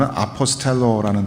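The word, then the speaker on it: ἀποστέλλω: 보내신이라고 번역된 이 단어는 원문으로 읽으면 아포스텔로라는 단어입니다. 발음이 영어 단어 아포슬과 굉장히 흡사하죠.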